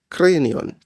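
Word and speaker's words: κρανίον: In Greek, the word used here is kranion. I'm sure it sounds a lot like an English word we've heard before. Yes, it sounds like the word cranium, which means skull.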